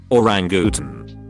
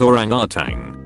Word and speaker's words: orangutan: is definitely not correct or Rangoon almost everyone I meet pronounces it orangutan there is no G at the end of it I work at a